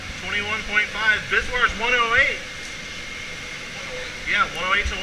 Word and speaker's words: VSWR: Let me pull up the web page and look at the Bizwire reading. That strange word I just used is spelled VSWR, which means voltage standing wave ratio.